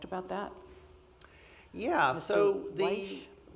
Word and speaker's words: Wyche: so Wyche? I call him Witch, That's all right. W-Y-C-H-E. I think there's a local family that has a different pronunciation. But so William Witch was a young attorney